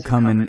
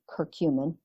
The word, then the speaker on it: curcumin: happened with that and you you actually pronounce it curcumin curcumin but yeah yeah so